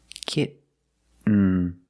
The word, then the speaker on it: kitten: When you make the stop T, the tongue is up, almost in the N position, so you don't have to change much. Kitten, kitten. But don't say kitten. I cannot pronounce these T's as a fast D. I cannot say kitten. It's kitten, or more commonly, kitten.